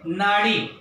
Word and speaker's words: नाडी: का, वो अपन पढ़ेंगे नाडी, ठीक है। वैसे तो एनएडी, लेकिन इसको प्रोनाउंस कैसे करते हैं, नाडी के रूप में प्रोनाउंस करते हैं।